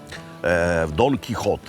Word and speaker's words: Don Quijote: Don Quijote est la prononciation espagnole correcte.